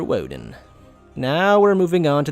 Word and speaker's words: Woden: So keep in mind, when you say this guy's name, it's not Master Odin, but Master Woden.